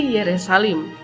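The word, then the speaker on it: ירושלים: Kata Yerusalem berasal dari nama ini yang diucapkan dalam bahasa Ibrani menjadi Yerusalim, yang berarti rumah suci.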